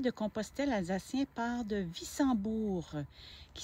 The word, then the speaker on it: Wissembourg: Le W, bien sûr, se prononce comme un V.